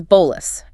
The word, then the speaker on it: bolus: The first term is bolus, pronounced b o h less.